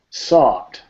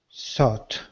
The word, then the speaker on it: sought: Sought. Sought. All these words have this same sound, the O-U-G-H-T, which is pronounced ought.